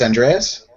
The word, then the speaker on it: Andreas: as he sees um it's andreas that's how you pronounce in here okay um he'll kind